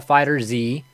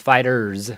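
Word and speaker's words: FighterZ: everyone's pronouncing it wrong it's not called Dragon Ball Fighter Z the Z is part of fighter and it's fighters with the Z at the end uh well that's their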